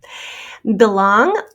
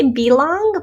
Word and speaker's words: belong: fought brought thought ought belong this usually is said with a schwa some people say belong but most people say belong which turns that into a schwa spelled with an e